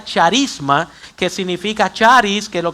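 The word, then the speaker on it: χάρισμα: El movimiento carismático toma su nombre de una palabra griega compuesta que que se pronuncia charisma, que significa charis, que lo que significa es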